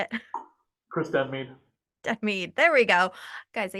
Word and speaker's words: Denmead: Chris Denmead, Denmead.